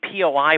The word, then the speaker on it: POI: uh what was the POI project that you spoke of during the the the webinar David POI it's called po I think or at least that's what Calhoun calls it pronounces it it's Paul Cal